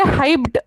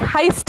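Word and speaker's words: heißt: या स्क्रीन पे आपको दिखेगा कि कैसे बीटा लिखा है, लेकिन प्रोनाउंस करते वक्त आप उसे हाइब्ड नहीं बोलने वाले हैं, हाइस्ट बोलने वाले हैं, बिकॉज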